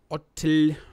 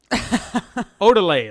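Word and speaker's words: Ottile: Now, the two main players behind this acquisition seem to be Jamie Otel. God damn, these people's names. Odile. Let's just say his name is Odile. That's the O-T-T-I-L-E. Odile.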